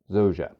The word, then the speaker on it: Zorza: My name is and I would like to introduce my brand new company, Zoa, not Zorza. Zoa.